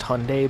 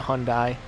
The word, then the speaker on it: Hyundai: I know it's technically pronounced Hyundai, but that doesn't sound right to me. I always pronounce it Hyundai.